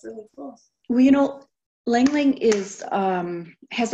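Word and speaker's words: ylang-ylang: I love Lang Lang. I think that's how you say it, right? It is, I used to hate the smell of it.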